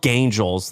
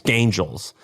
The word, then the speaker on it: Gaingels: If you Google it's it's spelled Gaingels, like gain, like g a i n, and then gels, Gaingels.